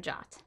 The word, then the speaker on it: JWT: Firebase gives you complete control over authentication by allowing you to authenticate users or devices using secure JSON Web Tokens, pronounced JOT.